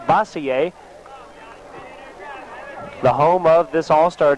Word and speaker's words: Bossier: Louisiana's all-star hometown looks like Bossier to me, but of course the pronunciations in Louisiana just a little bit different from other places. Bossier, the home of this all-star team, which now has a 4-0 lead.